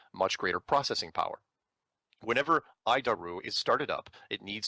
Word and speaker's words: ADIRU: data initial reference unit we pronounce it i daru horrible name but i'll